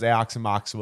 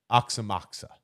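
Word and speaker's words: Aoxomoxoa: as it is backwards I always thought it was aox moxa because that would be right you know but it's oxim moxa I guess that's what the pronunciation said uh they played it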